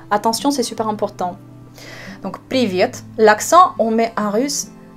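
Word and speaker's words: привет: Vous connaissez déjà ce mot en russe, salut, quand vous le prononcez en russe, c'est le mot privet. Je vous écris ce mot. Privet. Je mets l'accent sur la deuxième syllabe.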